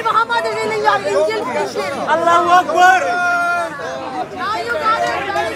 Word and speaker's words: Allahu Akbar: Allah Akbar. You can't even say it properly. Shaitan is Akbar. These people are jokes. Allahu Akbar.